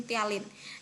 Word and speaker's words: ptyalin: menggunakan enzim ptyalin Nah jadi cara bacanya meskipun diawali dengan huruf p p nya dihilangkannya jadi menggunakan enzim ptyalin Jadi kalau ada pertanyaan